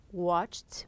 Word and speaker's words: watched: We have here watched, watched with a T.